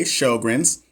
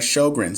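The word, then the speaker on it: Sjögren's: It's Sjogren's. Oh, okay. Sjogren's. Okay, so I said it right. Sjogren's.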